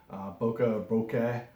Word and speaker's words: bokeh: This one also does great bokeh effect, bokeh, depending on how you want to pronounce it.